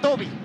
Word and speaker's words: Tobi: Sí, por supuesto, se pronuncia Tobi.